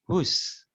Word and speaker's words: whose: Kalau Dani seperti ini, berarti bukan whose, tapi whose. W-nya itu silent letter, nggak dibaca ini.